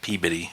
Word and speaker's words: Peabody: it and she's in Peabody peab bidy is how they pronounce it Mass um and she